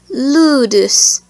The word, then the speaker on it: ludus: And lastly, U is pronounced like the English word rude. An example is ludus, meaning school.